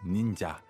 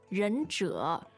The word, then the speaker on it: 忍者: It's a little difficult because it's two third tones.